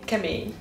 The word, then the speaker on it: Kemény: It sounds like just short for chemistry.